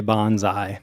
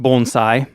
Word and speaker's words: bonsai: have to I'll forgive you if you say Bonsai yeah that's what I've been calling them my